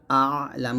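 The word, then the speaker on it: الأعلى: আলা হামজা আইন জবর আ লাম খারা জবর লা এখানে আইনের উচ্চারণটা একটু চাপ দিয়ে চিকন করে বলতে হবে সুবহানা রাব্বিয়াল আলা এটা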